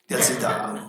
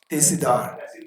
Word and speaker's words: Tehsildar: Tehsildar. Not Telsi. Tehsildar. No, I will check with Rizila. I don't trust others. I want to go the route. Tehsildar.